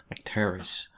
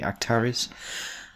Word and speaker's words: Acterys: to the application called actaris actaris am I saying it correctly actaris so we're going to